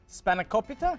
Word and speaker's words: spanakopita: that's easy to make difficult to pronounce spanakopita yes close enough No actually that's exactly what it is really yes you you